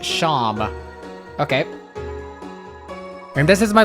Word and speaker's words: Seam: The name Seam pronounced Sham.